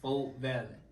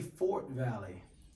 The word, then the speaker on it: Fort Valley: If you went, it's Folk Valley. Not how it's spelled. Fort. If you say Fort Valley, you not a wildcat.